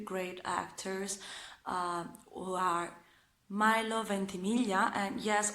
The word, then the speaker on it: Ventimiglia: actors who are Milo Ventimiglia, and yes, I pronounce his surname in Italian since it is an Italian surname, so it is Ventimiglia.